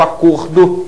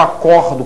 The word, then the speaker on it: acordo: né então o ver o substantivo acordo tem um som fechado o verbo acordo que tem um som aberto portanto a pronúncia é